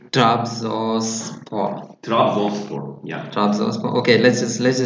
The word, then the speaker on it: Trabzonspor: Trabzonspor. Yeah. Trabzonspor. Okay, let's just do this. Okay, I try to pronounce it, and if you correct me if I'm pronouncing it wrong.